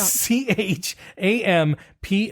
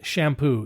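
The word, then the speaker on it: Champoux: now okay go ahead it's c h a m p o u x but it's pronounced shampoo not champ I think I would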